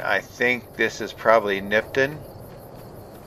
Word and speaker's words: Nipton: think this is probably nipon is that how you say it let me see are we heading towards it uh nipton yeah that's how you